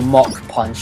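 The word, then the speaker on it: Mach Punch: called Mac Punch or mock punch as they pronounce it in the episodes and till this day I still think it should be called Mac punch because well it reminds me of Little Mac 4 One and also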